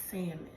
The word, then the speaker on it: salmon: so up like okay even though salmon has an L in it it is pronounced salmon for a long time